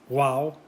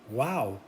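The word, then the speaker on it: guau: way wow in spanish it's pronounced wow but it's spelled g-u-a-u wow g-u-a-u wow gustavo la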